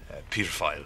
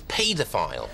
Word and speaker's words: Peter File: Peter File. Who's a pedophile? No. No. His name is Peter File. His name is pedophile. Don't say it like that. It sounds like pedophile.